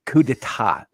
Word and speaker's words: coup d'état: But if you're gonna say a French phrase, like say it right, coup d'état, not d'état.